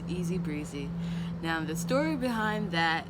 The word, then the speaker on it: ESZBRZE: of people are asking me how do i pronounce that it's easy breezy now the story behind that is that in